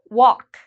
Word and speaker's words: walk: have the a so this means the L is silent walk I know a lot